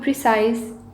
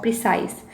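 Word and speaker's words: précis: The first one is meaning of precise. First of all, I will tell you the pronunciation of this word precise. It can be pronounced as precis or precise.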